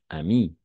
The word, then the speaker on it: amie: Et oui, on va prononcer une amie. D'accord? Une amie. Une amie. E à la fin est muette.